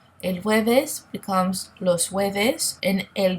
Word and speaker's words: jueves: El jueves, now you see that the J-U-E is pronounced very close to a W sound. El jueves becomes los jueves, and el viernes becomes los viernes.